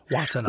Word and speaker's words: Watanabe: Watanabe.